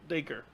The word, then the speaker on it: Dacre: Stuckart yep sadly he missed a good chunk of that blade Baker Oh like like acre yeah I take her